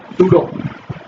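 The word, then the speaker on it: pseudo: तो आपने सूडो classes में हम सभी देखेंगे, सूडो बी साइलेंट है, सूडो क्लासेस, ठीक है।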